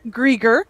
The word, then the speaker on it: Grieger: But joining me now, we'll have Shawn Senko with the Canola Council of Canada and Grieger with PAMI.